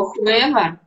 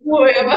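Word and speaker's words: huevo: еще первая буква H у них не читается. Когда я стала говорить, что я знаю, что Да. такое хуэва, это яйцо, мне сказали, что вот это хэ, не Да, хуэва, там надо быть осторожным.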